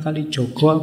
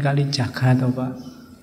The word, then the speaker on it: Kalijaga: Hajar Dewantara nak apa-apa sama kayak UIN itu UIN Sunan Kalijogo apa Sunan Kalijaga semb saremu p y